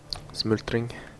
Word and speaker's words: smultring: It's dude, it's like smulteringi with American pronunciation or English pronunciation. It would be smoldering or smoldering, maybe with the U.